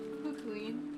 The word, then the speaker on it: Fukuin: She had been brought up in an orphanage owned by Kinzo, called the Fukuin? I don't know how to pronounce that. The fuck it no. It's Fukuin.